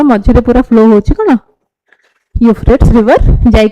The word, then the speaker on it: Euphrates: एटा आ एटा ए दीटा जिनस देखियो केमती प्रोनाउंस करबो यूफ्रेट्स river that was recently seen in news originates in which region Tibetan Plateau Armenian Highland Deccan Plateau Zagros Mountains सुनछ केबे सुनत so this is a Euphrates river हला Syria news रे थिला चल continuously